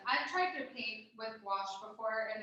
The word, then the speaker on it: gouache: And I'm not sure how to pronounce this, if it's gouache? Oh, watch. Gouache. Watch. Gouache.